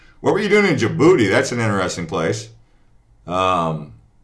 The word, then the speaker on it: Djibouti: people they'd be like did you booty but it's uh the the D is silent okay so anyways thanks